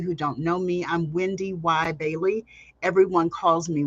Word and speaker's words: WendyY: those of you who don't know me I'm Wendy y Bailey everyone calls me Wendy y uh yes you do pronounce the second why and I'm a 20